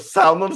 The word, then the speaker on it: salmon: getting like unrelated like salmon stuff. I don't need fucking salmon stuff. Also, why the fuck is there an L in it? You don't pronounce it salmon.